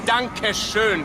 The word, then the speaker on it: danke schön: It's danke schön, verdammt.